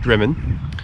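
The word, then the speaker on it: Drymen: left uh well it's spelt drymond but it's pronounced drummond i was corrected yesterday uh which is just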